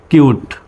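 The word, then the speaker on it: cute: হল অন্য লেটার সুতরাং সির উচ্চারণ পর মত সি ইউটি কিউট তো এবার কিন্তু আর সিউট বলা যাবে না সির উচ্চারণ সর মত হবে না সিউট বলা যাবে না কিউট সি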